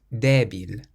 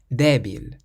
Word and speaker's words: débil: This next word has an accent over the E, so we pronounce it débil, débil, which means weak, débil.